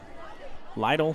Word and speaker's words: Lytle: were told Cameron little is not pronounced little it's Lytle I want to say